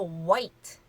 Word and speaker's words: white: 들어가서 화이트라고 많이들 하시는데 화이트가 아니고 이 H는 묵음입니다. 그래서 white, white예요.